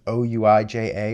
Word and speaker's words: Ouija: I guess it's o ui ja or something like that, but it's pronounced Ouija.